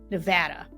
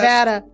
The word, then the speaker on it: Nevada: are taking you to Nevada did I say it right you did I'm impressed Nevada okay and look I